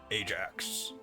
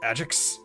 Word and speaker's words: Ajax: picked up ajax sword ajax it's pronounced agix like an adjective thank you very much